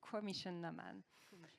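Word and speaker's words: Coimisiún na Meán: So it's Commission Naman, or CINAM, I would say.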